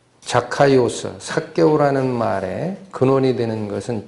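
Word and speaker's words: Ζακχαῖος: 이름 삭개오, 원래 발음은 자카이오스라고 읽히는 단어가 쓰입니다. 자카이오스, 삭개오라는 말에 근원이 되는 것은 자카입니다.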